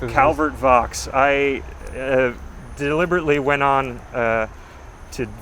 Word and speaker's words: Vaux: He and, I don't know, Vaux is Calvert Vaux. I deliberately went on to various pronunciation sites because I've for years because it looks like it should be Calvert Vaux. It looks like French, but it's not.